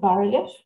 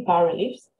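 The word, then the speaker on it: bas-relief: a low release called barely or you can pronounce it the english way bar reliefs and usually we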